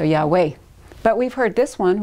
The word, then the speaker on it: Yahweh: Probably, well, if you pronounce the Vav as a W, it would be more Arabian Peninsula. The Yemenites all pronounce, the Yemenite Jews from Yemen pronounce the Vav as a W. So Yahweh.